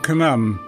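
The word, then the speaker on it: Khnum: at ASW is the Temple of Kum that's spelled k n u MB this is the deity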